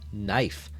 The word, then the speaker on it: knife: it doesn't because it's one of those silent front letters knife KN where is K why is it there it's just filler it's